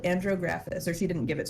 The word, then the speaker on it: andrographis: Her doctor would give her an herb called andrographis, or she didn't give it to her.